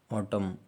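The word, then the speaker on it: autumn: यदि किसी वर्ड के अंत में यम यन एक साथ हो तो यन साइलेंट हो जाता है, जैसे कि ऑटम मतलब पतझड़ होता है, ऑटम।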